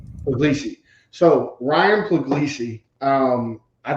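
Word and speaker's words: Puglisi: I butcher the last name how do you pronounce his last name again pesi pesi so Ryan py um I think for most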